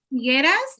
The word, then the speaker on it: Figueras: Nació en ¿cómo se pronuncia? Figueras. Figueras, en pues una localidad de España.